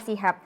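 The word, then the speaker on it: CHUB: in soal creative hub CH UB bacanya Sihab ya bukan Cup karena beberapa temen-temen yang lain itu kadang bacanya Cup gitu jadi harus dijelaskan lagi kalau Bacanya adalah Shihab nah dilihat sendiri temen-temen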